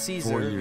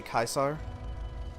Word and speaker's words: Caesar: river it gathers yeah some people say Caesar most of the Legion people say kaisar Vegas Army of Rehabilitation